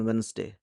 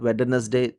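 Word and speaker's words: Wednesday: in Uttar Kashi on वेनसडे दि नॉट वेडनेसडे इट्स वेनसडे it's Venus W Venus वेनसडे डी रिमन silent वेनसडे इन a race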